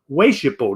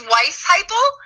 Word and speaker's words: Weisheipl: today the amazing wayshippo did i pronounce that right thanks so much alan it's weiss hypo is how you say it but it is a